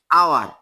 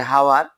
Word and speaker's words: hour: এই যে একটা শব্দ HOUR, এই যে আওয়ার, এটা কিন্তু কেউ যদি উচ্চারণ করে হাওয়ার, তার কিন্তু ভুল হবে।